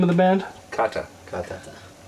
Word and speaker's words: Kata: that's the same yes how how do you pronounce the name of the band Kata Kata